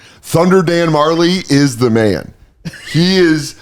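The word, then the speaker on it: Majerle: the back they say last name pronounced Marley cuz of the J like oh dude I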